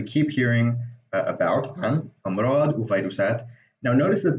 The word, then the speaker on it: وفيروسات: Now notice that the fa here has a V kind of sound. Now that's only in loan words really. So like it's not really a V, it's just that because there's no V letter in Arabic, whenever you want to write that in the native Arabic script, you use an F.